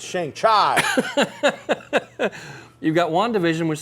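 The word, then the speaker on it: Shang-Chi: maybe we've got shangshi we've all been saying it wrong okay shangshi it's shang chai you've got one division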